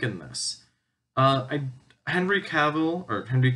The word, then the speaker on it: Cavill: this uh I Henry Cavill or Henry Cavill I don't I never actually figured out how to pronounce his name but I'm gonna go with cavil and so that's how I usually hear it I do enjoy Henry